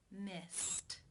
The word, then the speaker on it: missed: Missed. Missed. How do you pronounce this word? The final infinitive sound is the T sound.